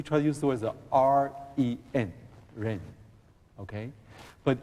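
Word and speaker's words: 仁: But quite in the United States, we try to use the word R-E-N, ren. Okay? But in Chinese, it is pronounced ren.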